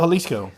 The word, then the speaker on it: Jalisco: Born in is it pronounced Halisco or Jalisco? Halisco.